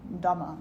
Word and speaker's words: dhamma: dhammapada so the dhammapada the word dhamma means dharma it's another way of saying dharma dhamma it's the way that the buddhists pronounce it the dhammapada the chapters